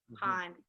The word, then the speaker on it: Ponce: Ponce, say it right.